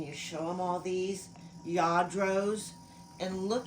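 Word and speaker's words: Lladró: Lladros. And look how it is spelled. Llardo. They pronounce it ya, like Y-A-A, dro.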